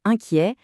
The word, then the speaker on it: inquiet: Et pour inquiet, souvenez-vous que le in est nasal et que le t à la fin, il est muet. On ne le prononce pas.